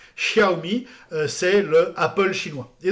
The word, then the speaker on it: Xiaomi: Et puis Xiaomi, qui s'écrit avec un X, mais qui se prononce Sh. Xiaomi, c'est le Apple chinois.